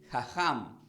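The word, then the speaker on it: חכם: la palabra del hebreo la palabra sabio se pronuncia como jajam entonces que es igual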